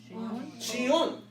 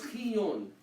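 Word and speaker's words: ⲭⲓⲱⲛ: Most deacons will pronounce it shion, means snow. Means snow. Imagine, there's actually snow in Egypt. They have a word for snow. However, There's also, some will pronounce it as chiyon, Which is the proper way.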